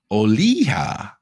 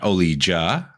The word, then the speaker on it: Olija: to be talking about oliha not olija as I probably pronounced that in the last episode but is oliha by